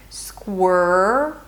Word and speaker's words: squirrel: So you round your lips for the R, and we can connect it to the previous R. Squirrel.